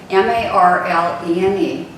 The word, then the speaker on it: Marlene: Marlene, M-A-R-L-E-N-E, pronounced Marlene.